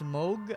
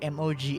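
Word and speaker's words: Mohg: in elen ring it's Moog I believe what the way you pronounce it just spending of his name is like m o g h something like mog moog however you want to say it but yeah you need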